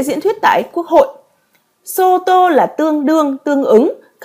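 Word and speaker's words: 相: tương hoặc là tướng có cách đọc là so hoặc là show hoặc là ai ai đi trong ai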